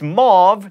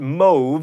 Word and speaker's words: mauve: happens again and again it's mauve not move and ku klux klan